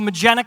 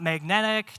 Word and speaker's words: Magenic: So Magenic Technologies, not magnetic, not magenta. The name can sometimes be hard to pronounce.